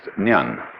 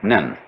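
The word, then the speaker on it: 念: It's pronounced nyan, in Japanese nen.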